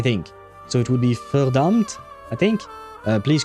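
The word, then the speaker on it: Verdammt: Verdumpt. Wait, how do you pronounce the V? Is it fur or ver? No, it's fur, right? The V is pronounced F in German, but I think there is an exception.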